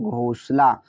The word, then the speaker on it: घोंसला: तो GH से घ होता है क्या, घ। ओ से ओ की मात्रा, यहाँ पर एस है तो सा लेंगे। अब यहाँ पर ए साइलेंट रहेगा, एल का मतलब ला, ए का मतलब बढ़िया की मात्रा, तो हुआ घोंसला।